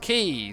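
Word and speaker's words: Quays: it up and down quais pronounced Key says white fury ah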